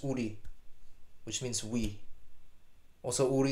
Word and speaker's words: Ourii: name for emis is Ury o u r i i what's actually pronounced Udi which means we also